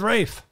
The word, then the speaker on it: Ralph: head chef head chef it says Ralph right there I know but I've been I've been told I've been told to call him right it's spelled can I just call him Ralph I'm gonna call her off and he says rage his name is Rafe Hong Xiao is also